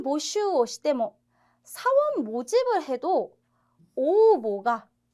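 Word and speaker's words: 応募: 자, B번, 샤인 보슈 시대모, 사원 모집을 해도 오보가, 응모가 오보라고 발음합니다. 오보.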